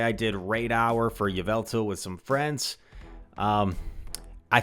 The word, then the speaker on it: Yveltal: how other people say I say Yveltal what what else do they say I can't even think of the alternate pronunciation so you know what that means mine is the right pronunciation okay Yveltal but I did not